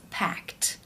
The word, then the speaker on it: packed: t sound for example the word pack when you add the ed it becomes packed because the k sound is unvoiced other unvoiced sounds